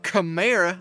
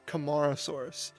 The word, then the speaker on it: Camarasaurus: voice note here because I have realized I have mispronounced this dinosaur my entire life besides of camra like the old car that your dad and uncle used to drive in the 80s it's camarasaurus so just an fi guys